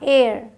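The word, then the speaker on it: heir: इसे हेयर नहीं पढ़ना, एयर।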